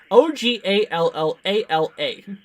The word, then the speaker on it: Ogallala: How do you pronounce this area? Ogallala.